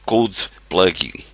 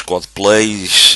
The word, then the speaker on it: codeplug: CodePlug pronuncia-se, eu aqui fiz uma tentativa de reprodução da língua portuguesa, CodePlug. Isto para evitar os codeplays e outras coisas que circulam aí pela net.